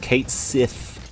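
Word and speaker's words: Cait Sith: The FF official Twitter, Final Fantasy, they have come out and said Kate Sith's name is pronounced Kate Sith.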